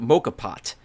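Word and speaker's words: moka pot: not to use a i think he pronounced i think you pronounce it mocha pot um but depicted in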